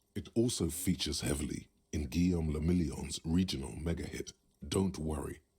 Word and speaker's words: Guillaume le Million: Guillaume le Million. Who's that? If it doesn't rhyme, you're not pronouncing it right.